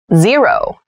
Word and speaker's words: zero: over can jump over zero zero z row so zero is used to refer to the number which means nothing so we also read this as o sometimes number zero number zero